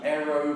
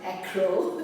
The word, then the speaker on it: Acro: are here in the Aero Pilates, is that how you say it? Acro. Acro? I have been told twice. That's a good one, Aero, but Acro is acrobatics.